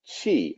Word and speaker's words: qi: And the way that word is pronounced is chi, like a chia pet.